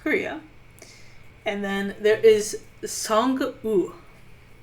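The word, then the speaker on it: Sang-woo: and then there is song you don't pronounce the w that is the villain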